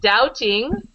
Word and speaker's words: doubting: Uh this word doubting. Doubting. The B is silent.